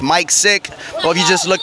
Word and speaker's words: Micx Sic: social media website everything m-i-c-x-s-i-c that's mike sick or if you just